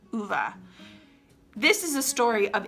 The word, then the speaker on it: Ove: that I was like is it vay and then I was like let me just look it up so I went I went to the publisher website they had a video how to pronounce it and so I checked and it is ova this is a story